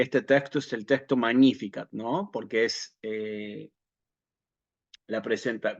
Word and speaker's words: Magnificat: que es el el algunos dicen magnífica no que eso sería pronunciación clásica en realidad sería magníficat sí Eh sí salve